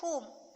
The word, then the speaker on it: whom: Some WH words also make the H sound, such as in who and whom. Who and whom. Here only we should pronounce only H.